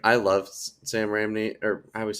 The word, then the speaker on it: Raimi: But I think what bugged me a lot was it's like I love Sam Raimi, or I always say his name wrong. Sam Raimi.